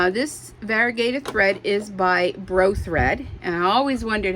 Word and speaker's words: Bro Thread: And this variegated thread is by Bro Thread. And I always wondered how to pronounce that. How many of us look at that and we want to say brother? It's Bro Thread from what I've been told.